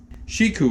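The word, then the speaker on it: Shikou: garden and they are shiku eggplants which is spelled um s-h-i-k-o-u it's a variety of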